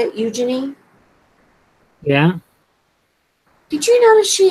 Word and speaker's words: Eugenie: you notice Princess Eugenie's Eugenie, is that how you say it? Eugenie?